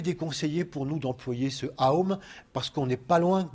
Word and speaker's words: Om: on l'appelle le Om, qui s'écrit de 2 manières, ou bien de cette manière-là, Om, et qui se prononce Aum, en 3 sons.